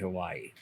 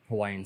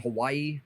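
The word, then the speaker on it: Hawaiʻi: heavily involved in in hawaiian society absolutely and by the way um i've been saying hawaii but it's uh hawaii um with a sort of a soft v on it uh i think is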